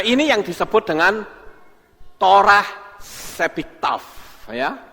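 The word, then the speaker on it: שבכתב: yang disebut dengan torah sebiktaf ya Ini bacanya seiktaf Ya torah sebiktaf saya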